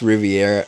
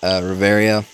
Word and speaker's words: Riveria: be like unstoppable via this Riviera Riveria max limit broken I even said her name wrong if I had if